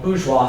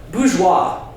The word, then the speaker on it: bourgeois: Bourgeois, the first syllable, first syllable, bouge, right? Burger. Think about American cities. Pittsburgh, Harrisburg. It means town.